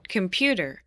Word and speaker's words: computer: 어디에 강세가 있을까요? 들어볼게요. computer, 한 번 더. computer, 자, 들리세요? 강세 어디 있나요? 중간에 있습니다. computer 이렇게 들어가 있다는 거죠.